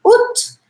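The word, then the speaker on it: août: Ut. Tem um monte de letra, mas eu vou pronunciar ut.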